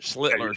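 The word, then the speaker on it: Schlittler: Well, Schlitler, did I say it wrong? I said I said Shitler didn't. Schlitler. Sorry. I knew I was going to screw that up this way.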